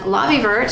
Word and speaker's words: Lavievert: it is a travel toiletry bag made by lobby vert and Lobby vert has I have heard it pronounced so many different ways but the proper